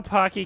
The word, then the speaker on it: Pocky: pocky chips on twitter we know pocky can be a little tough to pronounce so he put together a list of words that rhyme with pocky to make it easier tacky and wacky no hold on snacky